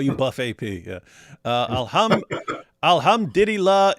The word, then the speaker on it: alhamdulillah: Uh alhamdulillah.